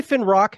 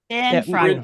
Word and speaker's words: Finfrock: We're going to be talking to Zack Finfrock, dude. Nuka Break. So, close. Finfrock. You almost had Finfrock. Did I say Finrock?